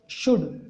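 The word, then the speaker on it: should: इसमें देखो अगर अपने हिसाब से पढ़ेंगे तो ये बीच में एल आ रहा है तो इसको अपन शुल्ड पढ़ेंगे, लेकिन इसमें एल जो होता है ना वो साइलेंट रहता है। क्या रहता है? साइलेंट। इसको नहीं पढ़ा जाता।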